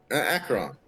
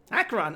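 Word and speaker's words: Acheron: How do you pronounce her name? Akron. Akron.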